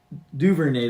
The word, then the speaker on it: Duvernay: Duvernay, that's how you pronounce it.